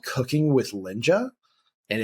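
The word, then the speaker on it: Lynja: um it is um one called cooking with linja and it's spelled c oh yeah k i n g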